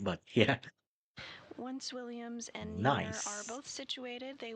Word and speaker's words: Meir: You can see this view Oh, on so your pronounced screen as there. Jessica From here, she Meir, works to not retrieve Meyer.